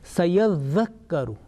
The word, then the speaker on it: سيذكر: Remember, here 2 Mushaddad letters come together, so we have to take care about that one. Sayadhakkaru. Okay, the Mushaddad, Kaf Mushaddad. So we have to pronounce together quickly, rapidly.